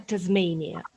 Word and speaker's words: Tasmania: Вимовляється Tasmania.